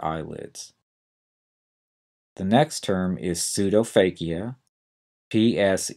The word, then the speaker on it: pseudophakia: upper and lower eyelids the next term is pseudophakia PS e d o p h a k